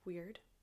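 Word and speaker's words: Wyrd: a very specific energy it's called weird which is spelled Wy r d and it represents the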